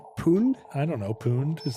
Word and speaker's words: pwned: Is that how you pronounce pooned? I don't know, pooned. Is that what you would say? I always say pwned to rhyme with owned. Pwned.